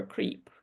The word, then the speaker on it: creep: For pronunciation, one syllable, long E, and voiceless P.